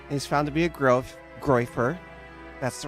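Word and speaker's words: groyper: He's found to be a groifer. That's the right way to pronounce it.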